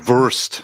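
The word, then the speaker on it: Wurst: German for sausage is worst so yes the German for really yes oh worst worst verst so if you had a W's in German are pronounced as V's so ver schit ver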